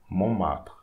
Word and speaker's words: Montmartre: So don't pronounce this T here. So we say Mont, and we don't pronounce the E here. Martre. Montmartre.